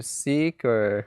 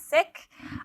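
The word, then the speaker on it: Sikh: so what's your religion are you seeker yes but it's actually not pronounce ck oh really we pronounce sick um sick actually means to learn learner and Punjabi and so that's why it's called sec yeah cuz our religion is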